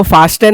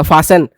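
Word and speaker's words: fasten: इसको फास्टन नहीं पढ़ेंगे। ठीक है? टी साइलेंट हो जाएगा। फास्टन फास्टन your seat belt.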